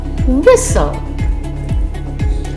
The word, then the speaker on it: whistle: The silent letter T. Interview, buffet, gourmet, rapport, penchant, listen, glisten, hasten, fasten, castle, whistle.